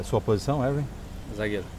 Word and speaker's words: Erwin: É sua posição, Ervin? Zagueiro. Eu tô pronunciando o seu nome correto? Corretíssimo.